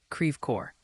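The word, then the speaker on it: Creve Coeur: oh you're talking about Creer it's pronounced creev cor the name comes from French and it means broken heart so if you're ever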